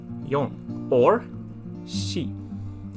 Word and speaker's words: 四: Number 4 is yon or shi.